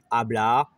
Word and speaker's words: hablar: dans les mots espagnols le h est toujours muet hablar a aura dans les